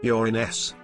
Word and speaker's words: Uranus: cannot discuss with people even though I pronounce it you're in s people will still go what Uranus lalalala there was an idea